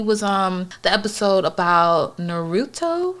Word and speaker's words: Naruto: the show he was on the episode about naruto right that's how you pronounce it um yeah naruto boy i always pronounced that wrong so if anyone wants to